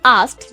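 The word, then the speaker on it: asked: For example, एक word है आस्क्ड इस वर्ड की प्रोनाउंसिएशन जो होती है वो होती है आस्क्ड जिसमें जो लास्ट साउंड है वो ट की आती है। अगर आपको ड लग रहा था देन दैट्स रॉन्ग जो लास्ट की वर्ड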